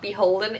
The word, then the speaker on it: BHLDN: Start off just as a little clarifier about Beholden. It is spelled BHLDN, which confuses a lot of people. It's Beholden without the vowels.